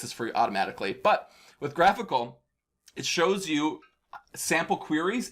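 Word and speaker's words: GraphiQL: graphical everyone mispronounces this it's graphical not graphy ql like a graphical unit interface get it y'all but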